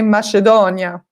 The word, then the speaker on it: macedonia: Italy they say it's something different they say mushy Danya and lemon sorbet I think this you understand